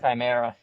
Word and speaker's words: Chimera: How do you pronounce that? Chimera, yeah.